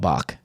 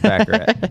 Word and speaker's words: baccarat: So you pronounce Nevada, but you pronounce Baccarat. Well, I all the people that play Baccarat call it Bach. Like for short, they call it Bach. So in this democracy, it's 2-1, so it's Baccarat. What's that game even?